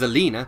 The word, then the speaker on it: Alina: The old bat's name was Alina, pronounced to rhyme with cleaner, which was an irony that Dirk now no longer relished, into opening the fridge door.